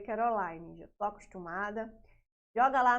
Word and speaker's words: Kerolinne: Instagram @prof Caroline se escreve assim mesmo tá e se lê Caroline já tô acostumada Joga